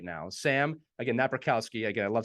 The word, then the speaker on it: Napierkowski: to introduce Our Guest right now Sam again na rowski again I love saying your name now that